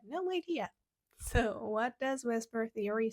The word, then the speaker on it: VSEPR: but you had no idea so what does whisper Theory say whisper Theory we say it this